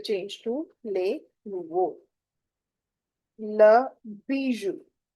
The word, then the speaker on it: bijou: Le bijou. OU is ou.